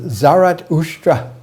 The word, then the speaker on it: Zarathustra: visioner and that original vision's visioner's name was zarathustra in his language avestan his name is pronounced zarat ustra ushra is the camel and zarat is being